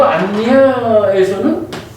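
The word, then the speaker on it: aññā: 요 안야에서는 장음이야. 그러니까 A 위에 선이 하나 그어져 있어요. 그러니까 안야하고 길게 발음하는 거예요.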